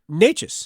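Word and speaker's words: Nečas: notices no it's it's it's pretty simple it's yeah NES yep how do you pronounce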